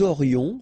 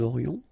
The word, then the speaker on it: aurions: Nous aurions, final S not pronounced, and then you've got this liaison, nous aurions.